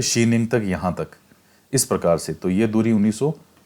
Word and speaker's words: Xining: तो हिंदी में ट्रांसलेट करके जाइनिंग लिख दिया, लेकिन इसका जो सही में उच्चारण है वो है शीनिंग।